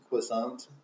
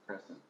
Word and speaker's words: croissant: I think it's crescent. Yeah, chocolate crescent. Yeah, it's pronounced crescent. Exactly. Chocolate I thought it was crescent. croissant. There's some sort of silent letter. Maybe the T at the end is silent. It's Maybe. croissant. It's crescent. Crescent. Crescent. Like that. Croissant. The French don't say T, Oh, so like it's a crescent.